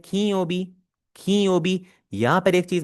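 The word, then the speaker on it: 金曜日: दोबारा क्लियर कर लूँ, बहुत लोग गलती करते हैं, इसे खिनयोबी खिनयोबी पढ़ रहे होते हैं। अगर आप जापानीज नेटिव्स को प्रोनाउंस करता सुने आप, वो इसे प्रोनाउंस करेंगे खीयोबी। इसका जो बीच वाला न है वो इसे नून बोलने की आवाज देंगे, नॉट the hard N sound.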